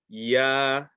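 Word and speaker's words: ي: Okay, and this last letter here is yeah, yeah, yeah. And again, I'm gonna keep it simple, just very similar to the letter Y in English. Like if you're saying yes, yeah.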